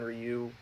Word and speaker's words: Ryu: is up against Max Scherzer and each one Ryu that's how you pronounce it I don't think he J I'm